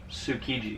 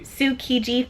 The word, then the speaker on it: Tsukiji: Tsukiji. Tsukiji Fish Market.